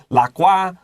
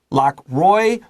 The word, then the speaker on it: Lockroy: They might use the French pronunciation, 发文, the 发音. They might say Port Lockroy. Okay. I'm an American. I don't speak French, so I will use the American pronunciation. Lockroy, Lockroy, both are fine.